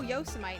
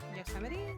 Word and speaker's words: Yosemite: like that was my Yosemite for people who never read yosity or heard yosity and they've only read it it and they're like oh Yosemite National Park it's like yosity like that's rough let me know